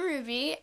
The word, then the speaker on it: Rubye: Rubeye. Wait, Ruby. Rube. Wait, how do you pronounce that? Hi, I'm Ruby.